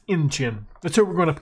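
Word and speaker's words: Incheon: It may surprise you, but I was wrong on the name pronunciation. It's Inchin.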